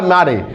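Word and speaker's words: Mare: तो वाल्टर डेला मारे। वाल्टर डेला मारे। अब इसको आप मारे की जगह मेयर भी पढ़ सकते हैं। अलग अलग बुकों में अलग अलग इसका लिखा गया प्रोनाउंसिएशन, मारे भी कहा जाता है, मेयर भी कहा जाता है।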